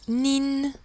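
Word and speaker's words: 您: tu ni est prononcé ni vous poli se prononce nine nine on voit bien qu'il y a le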